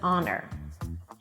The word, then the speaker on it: honor: If the H is silent and dropped, then it should be preceded with an an hour, an honest person, and it's an honor.